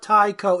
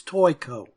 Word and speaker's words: Toyco: So it's not Taiko? Well, no, it's not Taiko, it's Toyco.